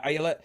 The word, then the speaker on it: Ayelet: Yeah, Ayala.